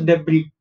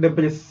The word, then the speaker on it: debris: Okay, yahan pe jo s hai wo silent hai, you do not pronounce debris, s nahi bolna hai, s ko silent kar dena hai. So we'll pronounce this as debris and not debris.